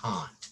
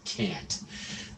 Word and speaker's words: Kant: That's right, the way to pronounce this is Kant. I can't do this. It's closer to like C or K-O-N-T than to can't.